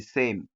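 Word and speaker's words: س: Then the sa, your tongue will be at the back of your teeth. It will not come out. So that's how you pronounce the sa, sa, sa, sa.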